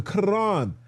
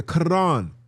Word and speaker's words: Quran: The Quran. You got to say it like that. The Quran.